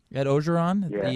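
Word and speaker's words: Ed Orgeron: This feels like a do-over for USC because they didn't hire Ed Ogeron. Is that how you pronounce his name? Ed Ogeron.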